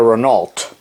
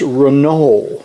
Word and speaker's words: Renault: always called it a Renault but my mother said honey it's not Renault it's Reno that's the way the French pronounce it renol I said oh